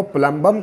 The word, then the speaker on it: plumber: फिक्स करता है वो प्लंबर के हिसाब से प्लंबर कहलायेगा बाद में इंग्लिश में जब ये आया तभी साइलेंट हो गया जिसकी वजह से ये क्यों साइलेंट हो गए पुरानी वीडियो बताई थी